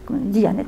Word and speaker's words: Diyanet: rattaché au premier ministre s'appelle la diyanet dit annette quand ça se prononce et c'est cet organisme